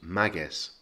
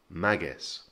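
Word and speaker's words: Máguez: close to aria and two things to note there's an accent on the a so the push goes on the first syllable and the second thing is that it ends in a zed so we again get that kind of soft s sound so it becomes magus magus now this can be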